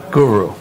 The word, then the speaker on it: guru: Is it guru or guru? Guru. The emphasis is on the first U.